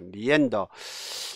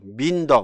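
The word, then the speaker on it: meander: 좀 외국이 되죠 그렇죠 민더 뭐 이렇게 읽어버리면 안 돼요 그죠 이거는 미앤더거든요 미앤더 그러니까 발음에도 왜곡이 될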